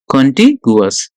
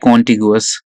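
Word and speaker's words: contiguous: कंटिगुअस, और यू can pronounce it like कॉन्टिगुअस।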